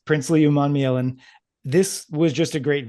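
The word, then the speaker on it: Umanmielen: Uh really I thought I was always confident about his last name, but at the senior bowl they uh were pronouncing it as Princeelli all week and that really threw me off. Um but it's Prince Leman.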